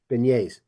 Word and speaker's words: beignets: Pronunciation time. Cafe Alette and Beignets, I think. Beignets. Yes. Beignets.